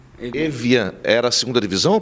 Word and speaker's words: Evian: Como é que se pronuncia? Evian. Evian.